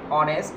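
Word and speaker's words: honest: example he is dash অনেস্ট ম্যান একটু খেয়াল করো আমরা কি এটা হনেস্ট ম্যান বলবো নাকি অনেস্ট ম্যান বলবো এখানে কিন্তু এইসটা কিন্তু অয়ের মতো উচ্চারণ হচ্ছে যদি এখানে দেওয়া থাকতো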